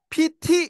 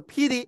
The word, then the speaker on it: pity: 아까 이제 제가 잠깐 들어봤지만 PT 이렇게 해서 T 이렇게 발음을 안 합니다. 약간 D 사운드에 가까워요. 그래서 PD 이렇게 됩니다. PD. 리을 사운드하고 디귿 사운드하고 그 중간 발음이라 그러거든요. 그래서 PD 이렇게 하시면 돼요. PD. PT 이렇게 안 한다는 거죠.